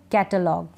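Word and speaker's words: catalogue: जी यू ई अ इन जी यू ई का उच्चारण हम ग पढ़ेंगे इनको जैसे क्या पढ़ेंगे कैटलॉग कैटलॉग डायलॉग टंग यानी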